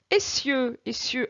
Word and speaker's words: essieux: la piste les distances, essieux, attention à ces deux S pour avoir le son SE, sinon j'aurai le son ZE. S entre deux voyelles se prononce ZE, donc là il faut doubler le S.